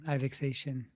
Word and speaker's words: Ivexation: Ivexation. That's how you pronounce the handle. Thank you for that question. I think they might have had another one. Call him Ivex. Ivex. That's what they said. They said Ivex is okay too.